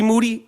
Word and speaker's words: Moody: I said, you mean G Moody? He said, yes, last name rhymes with duty.